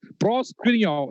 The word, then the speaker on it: proskuneo: Proskuneo. Yeah, I will spell it out in English.